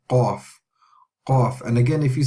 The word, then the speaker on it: Qaf: Okay, so Qaf is similar to K, but the difference is we use the further part, the furthest part in our mouth to say this letter.